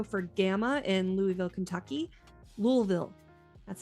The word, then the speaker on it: Louisville: Louisville, that's how you say it.